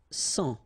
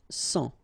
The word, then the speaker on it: sang: Un sang. Okay, remember this G here doesn't exist, so un sang.